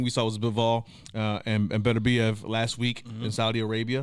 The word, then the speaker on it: Beterbiev: Beterbiev.